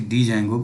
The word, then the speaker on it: Django: Actually it is Django, but D is silent.